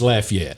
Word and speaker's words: Lafayette: Well, in Louisiana, it's Lafayette. Is it really? Yeah. In Louisiana, it's Lafayette. If it's in Indiana, it's Lafayette.